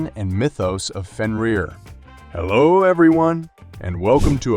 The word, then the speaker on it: Fenrir: He was the son of Loki and the giantess Angrboda, and his name is pronounced Fenrir.